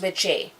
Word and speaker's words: wicce: The female witch is witche, W-I-C-C-E. So, and it's pronounced witche, and then there's witcha.